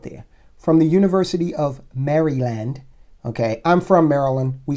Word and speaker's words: Maryland: I know I know some I know the pronunciation police are out there from the University of Maryland okay I'm from Maryland we say Maryland uh